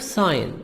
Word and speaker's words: sign: The verb sign. In the verb we make the G silent, but in the noun we say signature, a person's handwritten name.